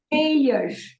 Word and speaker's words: meias: When you make a word into plural with an S, it ends with je. Je. Okay? As meias.